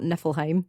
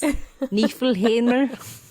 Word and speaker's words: Niflheimr: The one that I famously mispronounced last season, it's not Niflheim. It's Niflheimr.